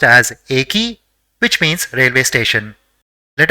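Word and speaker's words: えき: So it will be pronounced as Eki, which means railway station.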